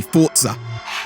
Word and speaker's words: Forza: latest release of Forza don't add me on how I pronounce it though supposed to be forer but to me it's just awkward anyway time for a